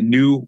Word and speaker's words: KNEW: I am excited to have this talk with James today about his most recent project, a health cooperative called New Health. That's spelled with a K, K-E-N-W, which is poised to fight chronic disease through prevention and by using functional and integrative medicine.